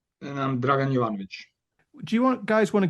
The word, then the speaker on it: Dragan Jovanovic: So, joined tonight by Stefan Michaelides and Yeah, Dragan Jovanovic. Have I got those pronunciations right, guys?